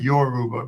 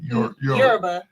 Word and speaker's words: Yoruba: You want to say Yurba Yurba? Yeah, Yurba. Not not Yoruba but Yurba.